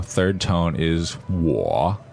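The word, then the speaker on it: 我: that's right okay w o third tone is war it's not woe right it is pronounced uh differently from what we pronounce in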